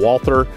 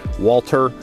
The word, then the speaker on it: Walther: Q5 match SF from Walther Walter whichever you care to call it you guys can get